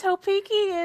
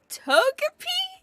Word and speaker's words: Togepi: Isn't it a Topeki? A Topeki? Is that how you pronounce it? You mean the little egg Pokemon Togepi? Oh, there's a G in it.